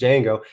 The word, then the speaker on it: Django: But the Django, but it's pronounced Django.